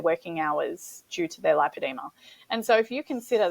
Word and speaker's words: lipoedema: the same thing but we feel that the pronunciation needs to be lipedema in Australia because if you say lipidemia it's too similar to lymphadema but it's also